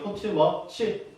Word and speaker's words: 포츠머스: 그렇지, 포츠머스 지역입니다. 포츠머스라고 하게요. 포츠머치. 다 상관없습니다. 포츠머치. 자, 그냥 한글 발음의 차이지. 다 똑같다라고 보면 돼요.